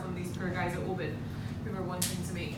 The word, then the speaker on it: Oban: It is pronounced Oban, America, not Oban. Oban. Like open your mouth.